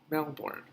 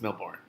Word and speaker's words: Melbourne: Melbourne. I've heard it pronounced both ways. I think it's Melbourne.